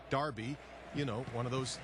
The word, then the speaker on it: Derby: football is King in Darby and by the way yes I know it's spelled with an e Derby but it's pronounced with an a Darby you know one of